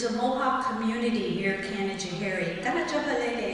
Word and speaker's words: Canajoharie: Canajoharie is the correct way to say Canajoharie.